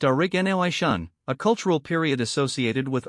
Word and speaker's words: Aurignacian: The objects come from the Aurignacian, pronounced Aurignacian, a cultural period associated with early modern humans in Europe.